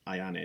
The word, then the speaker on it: Ione: I think Ione would sound Ione, that's that's People ask about how how you pronounce her name, that's that's it, Ione.